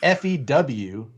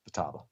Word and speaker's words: Futaba: It's not FEWTABA. Usually a vowel followed by a consonant and then another vowel gets a long pronunciation. Futaba.